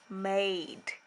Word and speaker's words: made: say hmm a and remember you don't say that one because it's a silent E so when I say it it's like this mmm aid made and that's how you